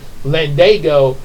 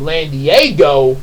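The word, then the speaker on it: Landago: that it's or like uh Emily's last name lende l a n d a g o but when I was a kid I kept pronouncing it l Diego like um l a n d i e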